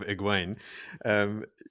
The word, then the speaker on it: Egwene: Look, back to the point that I was trying to make before we pulled apart my correct pronunciation of Egwene.